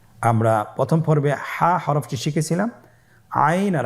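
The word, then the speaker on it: ع: এর মধ্যে একটি হরফ হল আইন। আইন হরফটি উচ্চারণের সময় অবশ্যই তিন আলিফ টেনে পড়তে হবে। এখন আইন হরফটি বারিক হরফ। পাতলা করে পড়তে হবে।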